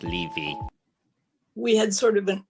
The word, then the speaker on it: Levy: Levy. My surname is pronounced Levy.